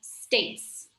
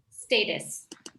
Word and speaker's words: States: This is just one syllable. States. States. States. How did I say, Katie? Status.